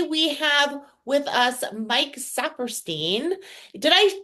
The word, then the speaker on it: Saperstein: sadoff and today we have with us Mike sapperstein did I pronounce that correct that's right sapperstein you got it first try awesome how are